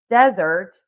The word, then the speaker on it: desert: And then we have desert and that is sand. And that has one syllable. And so that is going to be stressed on syllable number one.